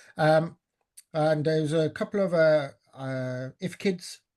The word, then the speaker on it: IFCID: And there's a couple of if kids, I was told that's how you pronounce it, IFCIDs, but if kids that were delivered